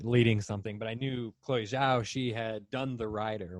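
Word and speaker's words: Chloé Zhao: by chloe how do you say that blues chloe zhao chloe zhao yeah who will be doing the eternals but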